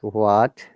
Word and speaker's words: what: Remember, in what, words like what, when, where, which. H is silent, so it should be what?